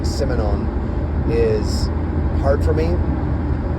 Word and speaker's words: Simenon: I feel like I have a pretty good French accent, but for some reason saying Simenon is hard for me. Simenon, I believe, would be a closer French pronunciation.